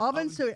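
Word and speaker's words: Amhuinnsuidhe: If you think of Sui, Yeah. Chop Suey. Don't think you'd ever get that from the way it's spelled.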